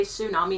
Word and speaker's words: tsunami: like that sh sh you know how tsunami is spelled TS u m a n i you say tsunami not tum yeah but it's spelled